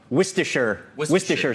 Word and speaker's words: Worcestershire: I think it's one of those words nobody actually knows how to pronounce. So anyway, I think I've progressed now to saying Worcestershire sauce. That Worcestershire sounds right sauce.